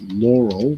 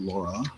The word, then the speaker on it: Laurel: It's Laurel, not Laura.